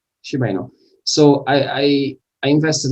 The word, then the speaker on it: Shiba Inu: Um, Shib is pronounced Shiba Inu. Shiba Inu.